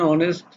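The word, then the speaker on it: honest: ফলো some example, an hour, এখানে এইচটা সাইলেন্ট আছে, অ্যান অনেস্ট, H silent, an এম এ, অ্যান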